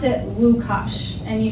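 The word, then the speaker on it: Łukasz: but you pronounce it lukasz and you spell it with it looks like an l but it has a slash that's their w you will see our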